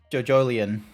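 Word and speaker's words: JoJolion: JoJolian. Yeah. That's because apparently that's how you're supposed to pronounce it, because it's meant to be like a mixture of JoJo and Evangelion.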